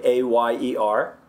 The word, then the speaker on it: ayer: Yo for Y, or ayer means yesterday, A-Y-E-R, ayer. Right? It's just a Y sound.